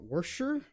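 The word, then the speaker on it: Worcestershire: the onions a bit so apparently Proctor just says what wor sure like he got it down to two syllables somehow I I feel like three syll is sufficient wor sure right but he got it down to like Worster or something like with three syllables there's already like half as many syllables as there should be right CU this says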